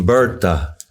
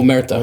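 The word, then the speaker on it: omertà: Yes, and we're actually Umberta. Am I saying it correctly? Omerta.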